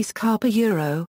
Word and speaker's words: SCAP: Purpose: the Security Content Automation Protocol, pronounced SCAP, combines a number of open standards that are used to enumerate software flaws and configuration issues related to security.